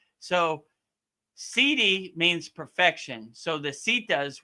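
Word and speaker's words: siddhi: It's not spelled like a actual CD. It's spelled S I D. S I D HI, right? CD. So, it sounds like CD, but it's really CD. So sidi means perfection.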